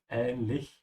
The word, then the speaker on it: ähnlich: Remember, the CH at the end is the German CH. You have to keep your mouth open at ähnlich at the end.